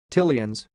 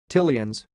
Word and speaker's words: Tileans: word you are watching it sounds like till Ian's till ians so I will repeat